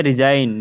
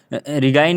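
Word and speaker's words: resign: उसके आगे है रिजाइन, रिजाइन, रिजाइन में भी आप देख सकते हो इसमें जी साइलेंट है। इसमें रिगाइन नहीं पढ़ा जा रहा है, रिगाइन कहीं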